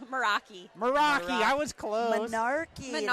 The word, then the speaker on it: Meraki: Monarchy. What's your lab's name? Meraki.